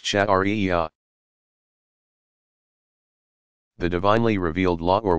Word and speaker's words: Sharia: The outcome of all this study and interpretation is called Sharia, pronounced Shari'ah.